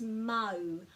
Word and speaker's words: mau: So remembering a, e, I or u, that's how to pronounce all of the vowels here, and putting a break after every vowel. So this is mau, mau.